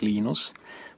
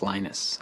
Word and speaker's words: Linus: I speak Finnish it's lenus when I speak English it's lonus and I really don't care how people pronounce my name but Linux is always